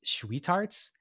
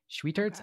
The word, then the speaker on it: Schwietert: So the 2 ice cream shops, there's I think it's pronounced Schweetarts, SCHWIETERT, Schweetarts.